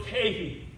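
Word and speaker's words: kai: Now, this Greek, then there's a Greek word kahi. It's spelled K-A-I, it's pronounced kahi.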